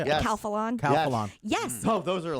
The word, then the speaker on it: Calphalon: Califon, or how do you say it? Yes. Calphalon.